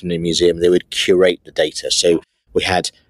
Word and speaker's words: Qureight: said let's talk about queue right first of all and you're like no no that's not how you say it's curate so first of all